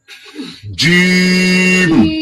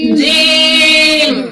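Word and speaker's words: جيم: অনেকে বলে জিম হা এভাবে বলা যাবে না। এটাকে তিন আলিফ টানতে হবে।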